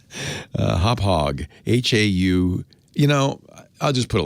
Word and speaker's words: Hauppauge: Hopog is a good one. I almost hate saying it because it's a worst company name in history, named after the Long Island town where they started. No one can spell it. Hauppauge.